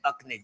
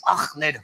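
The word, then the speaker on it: Achmed: No, you said Akmed. It's Ahmed.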